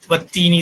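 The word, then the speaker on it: والتين: நான் அரபிக் தெரிஞ்சுட்டு வந்து படிச்சிருந்த மனிதரும் வந்து வத்தீனி தான் படிச்சுட்டு வரோம். அரபிக் தெரியாம உள்ள மதசால படிக்கக்கூடிய எல்லா பேக்ரவுண்ட் உள்ளவங்களும் வத்தீனி தான் படிச்சுட்டு வருவாங்க. யாரும் வந்து வல்தீனின்னு படிக்க மாட்டாங்க. லாஜிக் மட்டும் புரிஞ்சுக்காது.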